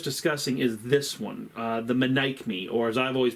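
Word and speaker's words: Menaechmi: And the play in question that we were just discussing is this one, the Manic Me, or as I've always pronounced it, the Medici, which is not correct. Manic Me is the correct pronunciation.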